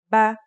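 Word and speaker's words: بَ: First, here's the fatha. The pronunciation will now be ba.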